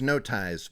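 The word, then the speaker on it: Notheis: It's now time for name corner again cuz their name is No Ties, but it's spelled N O T H E I S.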